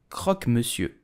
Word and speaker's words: croque monsieur: It's a hot sandwich made with ham and cheese, so how do you pronounce it correctly in French? You will say croque monsieur, croque monsieur, croque monsieur, croque monsieur.